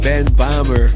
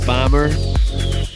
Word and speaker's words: Böhmer: But I'm pretty sure that despite this, his last name is pronounced Böhmer.